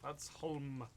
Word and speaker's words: Ludsholm: Ludsholm. They pronounce it home. They could just say H-O-M-E. Oh, like Holmes. Yeah, home.